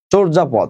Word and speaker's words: চর্যাপদ: এটা উচ্চারণটা এরকম, চর্যাপদ। তোমরা চর্যাপদ বলো, অনেকে সমস্যা নাই, চর্যাপদ।